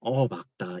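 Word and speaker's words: 맑다: 근데 뒤에 맑게도 자, 그러면 얘도 어떻게 발음해야 돼? 막다가 말다야, 막다야. 뭘로 발음해야 될까? 막다가 맞아, 얘들아. 뭔가 디펜스 하는 느낌이야. 막다. 이걸로 발음해 줘야 돼.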